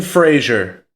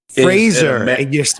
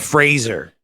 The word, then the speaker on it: Fraser: say his last name Brendan Frazier Fraser we've all been saying it wrong yeah it's like laser but Fraser like laser taser like it [ __